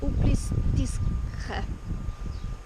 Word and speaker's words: Uplistsikhe: This morning we got a marshutka out of Gori, and we're going to go and see the ancient cave town of Uplistsikhe, which is, yeah, that's how you say it.